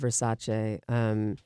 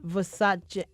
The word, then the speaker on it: Versace: it's based on a book called House of Versace and I think you know listen I'm sure